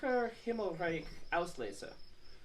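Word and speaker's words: Graacher Himmelreich Auslese: I'm going to let you pronounce that other part. Graacher, Himmelreich, Auslese.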